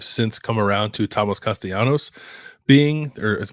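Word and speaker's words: Castellanos: Thomas castanos being or I think actually castalanos that's not the the uh what's I don't know what you call that that Double L pronunciation but uh but I like to say it it's more fun to say castanos um he leads the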